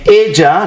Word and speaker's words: ella: Él means he, and ella, notice double L, sounds like a J, ella means, you guessed it, she.